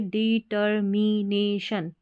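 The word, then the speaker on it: determination: ऑफ, DED, TER टर, MI मी, NA ने, और ये शन, TION को शन पढ़ते हैं, ठीक है। पूरा बन गया। अब साथ में जोड़ के पढ़े डिटर्मिनेशन, ठीक है।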